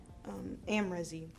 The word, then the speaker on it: Amrezy: the Anastacio in the color amrezy that is how you pronounce it and this is just